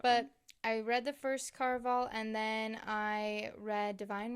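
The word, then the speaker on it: Caraval: Yeah, Carval.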